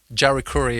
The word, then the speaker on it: Jari Kurri: But of course, Juri, Jerry Curry, if you pronounce it in English.